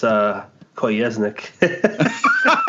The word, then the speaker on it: Kolesnik: You guys keep saying it funny. It's Kolesnik.